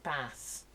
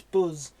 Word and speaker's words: bus: some southern softies say bass? Yeah, get on the bass. No, it's buzz with a Z. It's pronounced with that Z, but spelt B-U-S.